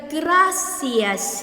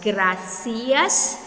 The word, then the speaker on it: gracias: Again, the gracias here, there are two ways of pronouncing it. It's either you pronounce gracias or gracias, like what they do in Spain.